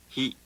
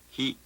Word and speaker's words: ひ: 8 ひひひ Nós Notem que este som, embora se pareça com o do pronome ele do inglês he, é produzido com maior fricção.